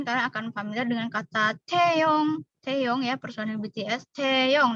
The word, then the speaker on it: Taeyong: Oke, contoh mungkin kalian akan familiar dengan kata Taeyong. Taeyong ya, personil BTS. Taeyong. Nah, T-nya itu pakai H ini ya, Rabun. T.